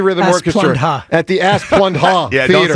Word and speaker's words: Asplundh: It's spelled ASPLUNDH. I think it is phonetic on the sheet. I think that's pretty phonetic. All right, I don't know what else you would do. Asplund. Just don't say that it? huh. Don't say the H part.